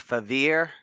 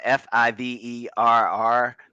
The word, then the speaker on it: Fiverr: if you know of uh i know i'm mispronouncing this it's favir uh f-i-v-e-r-r they have a lot of like fiverr yeah